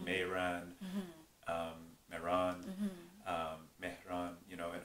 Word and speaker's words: Mehran: pronounced in Persian although people here because the pronunciation is a bit hard they just say but Mehran um the first part of my name is